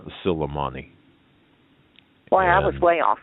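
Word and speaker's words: Suleimani: for me please sure it's uh it's kasem sulaimani it's q-a-s-s-e-m like mary once again that's cassand uh kasem q-a-s-s and the last name is spelled s-u-l that's s-u-l e-i-m-a-n-i kasem silimani well i was way off okay yeah it's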